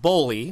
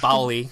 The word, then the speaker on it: Bowley: let's do it so so it's it's pronounced Bly right that's right yep not Bali I guess which I guess a lot of